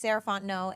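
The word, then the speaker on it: Sarah Fontenot: again my name is sarant no and you can find me at Miz saraon no so Ms s a r a h fo o n t n o t the t is silent um that's me on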